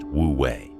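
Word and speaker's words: wu wei: It's called wooi, pronounced wooi.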